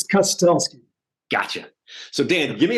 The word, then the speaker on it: Kustelski: but pronounce it correctly no that's fine it's cutest gotcha so Dan give